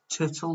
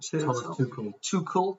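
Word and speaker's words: Tuchel: to his name and thomas turtle or two too cool that's how you pronounce it and can they get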